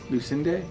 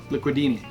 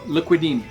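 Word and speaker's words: Licudine: My buddy Hurricane Hayward, the unofficial ambassador of the MaiKai, had to phonetically tell me how to say his last name because I always thought it was Mario Lucinde or something, but it's Mariano Liquidini. He is the Houdini of liquid.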